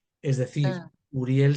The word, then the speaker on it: Uriel: Argamán es el acrónimo de Argamán de Uriel, es decir, Ah, Uriel se pronuncia como U, pero se escribe, en hebreo se escribe empezando por Aleph, y la Aleph se traduce como A, como sonido A.